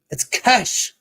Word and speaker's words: cache: Ah, it's cash. Cash. I'm sorry that I can't pronounce words.